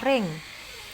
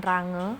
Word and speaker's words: range: dan yang terakhir adalah ring bacanya ring bacanya ring ya nak jangan range tapi ring itu adalah daerah hasil